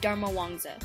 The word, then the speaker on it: Dharmawangsa: I said her last name wrong when I was filming it, but it is Jade Dharmawangsa.